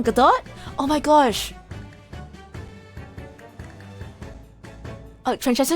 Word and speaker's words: Godot: Oh, it's pronounced Godot?